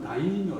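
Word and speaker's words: 大名: 그리고 ' 다이묘 ' 라고 발음 합니다 .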